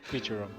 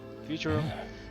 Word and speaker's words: Futurum: Not for the humans, not for the people of the Futurum. Futurum, that's the name of this planet. That's how it sounded pronounced in the local tongue anyway.